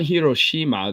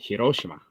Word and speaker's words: Hiroshima: not yeah Hiroshima hirosima it's not hirosima they pronounce it Hiroshima hirosima yes roshima is